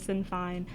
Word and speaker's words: Sinn Féin: It's like Sinn Féin. Sinn Féin. It's in Gaelic, so that's how Sinn Féin. Yeah, that's how you would pronounce it.